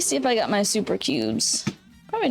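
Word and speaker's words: Souper Cubes: Let me see if I got my super cubes.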